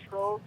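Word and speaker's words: Tröegs: That's how you pronounce it, Trogs? Yeah, we have Trogs.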